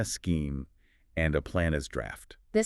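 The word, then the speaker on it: draught: A draft, and that's spelled D R A U G HT for everyone listening, right?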